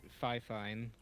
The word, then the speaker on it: Fifine: I'm surprised you said Yeah, Fifine. I say that's not Fifine. good. Or at least that's what I hear. The pronunciation of it is Fifine. That's how the company pronounces it.